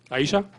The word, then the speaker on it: Ihesha: So we decided, with the help of Ihesha, am I pronouncing that right? Yeah. Ihesha.